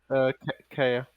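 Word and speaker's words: Kaeya: They are different, like I guess, artworks of Cade, or how do you say his name, Cade? Kaya.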